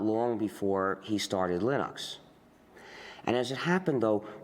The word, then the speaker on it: Linux: And I really don't care how people pronounce my name. But Linux is always Linux.